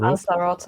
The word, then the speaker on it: Lanzarote: Lanzarote, it's Spanish.